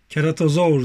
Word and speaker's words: Ceratosaurus: beğendim Evet ilkini açtık kerata saurus o dönemin keratası keratozaur diye okunuyor Bakın bu seride bu